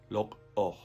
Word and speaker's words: lok'oj: querer en quiché sería lok'oj. Otra vez es un poquito diferente cómo se pronuncia, porque en español no se usa la misma manera, pero otra vez para que se escuchen, lok'oj es el verbo.